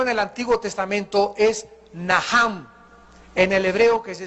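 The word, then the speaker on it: נחם: La primera palabra que se usó en el Antiguo Testamento es Naham, en el hebreo que se escribe Nacham. La CH en el hebreo se pronuncia como J, y significa cambiar la manera de pensar.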